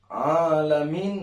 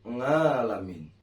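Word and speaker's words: العالمين: Kita dituntut untuk melafalkan makhraj ain yang harus fasih dalam pelafalan. Kalau kita tidak pandai dalam pelafalan, maka bisa jadi akan terdengar alamin menjadi ngalamin.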